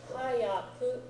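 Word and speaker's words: 早く: Hayaku, spelled with ha, full-size yaku, means fast, quickly.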